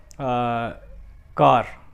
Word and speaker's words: car: Another word car, it's not car, it's car, it's car. Park, it's not park, it's park, it's park, park. R is silence in both words.